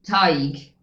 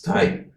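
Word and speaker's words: Tadhg: So, anyway, that is actually Tig. Or tag. It's tag.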